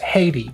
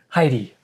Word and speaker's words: Heidi: Because in Spanish it's pronounced Haiti. Haiti. But I mean, gotcha. In English. Oh yes, it's like oh my gosh, it's Heidi.